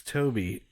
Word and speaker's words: Tobe: No, it's spelled okay. Tobe, but it's Tobe. It's Toby.